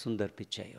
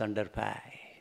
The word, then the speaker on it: Sundar Pichai: Mr Sundar pichai okay American TV says under pie I got used to that Jyoti is wondering who is sunderpai in IIT world the Casual looking butchered wearing even sometimes the button is missing that gentleman is called Sundar pichai you got very interesting